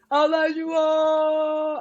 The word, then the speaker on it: Olajuwon: Olajuwon.